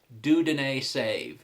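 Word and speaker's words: Dieudonné Saive: good phonetic uh spelling for me so it's do deny save is how you pronounce his name uh but one little nitpick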